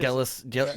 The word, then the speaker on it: Galasinski: Galasinski. Galasinski. that how his name is Yeah, pronounced?